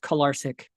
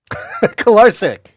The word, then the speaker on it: Kolarcik: Oh, and secondly, it's pronounced Kolarcik. Kolarcik.